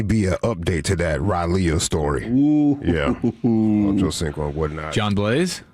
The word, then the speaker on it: Raleigh: You mean Raleigh? Raleigh. Oh, okay. Close enough. That's how you say it? How you say Raleigh. it again? You for real? But it's spelled R-A-L-E-I-G-H. Raleigh. That's Raleigh.